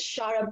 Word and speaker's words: Xarra: If you're in Midrand, you can get it at Shara Books, which is spelled Xarra.